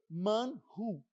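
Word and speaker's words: מָן: só que o Maná sabe como é que é a pronúncia dele é Manu em hebraico Manu e não é não era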